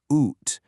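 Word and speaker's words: ութ: The sound is oot just like the end of the word boot.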